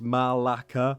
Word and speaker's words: malaka: is she actually says it's a greek swear word it's malacca spelling it out phonetically while they're having a